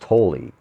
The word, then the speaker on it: Tolle: him, and when they introduced him, they said Tolle. So I'm pretty sure that in that case, they're saying it the right way. So I think it's pronounced Tolle, Eckhart Tolle.